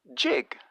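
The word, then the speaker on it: gigue: this on YouTube and he pronounces it the same as the word jig and he should know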